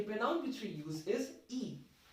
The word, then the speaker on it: y: It's actually y, like in and in alphabet form y is y, and when we are using it as a pronoun, the pronunciation is e. Okay, so it's not like e, the English alphabet.